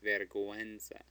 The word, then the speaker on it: vergüenza: So remember how we had vergüenza? That U comes between a G and a E, and we want to pronounce it. It's not vergüenza, it's vergüenza.